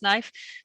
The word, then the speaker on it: knife: language really struggle with because we don't pronounce the K, and kids really struggle with as well.